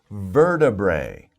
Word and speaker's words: vertebrae: of a difficult word let me spell it for you ver bray so verta bray vertebrae vertebrae that's a little more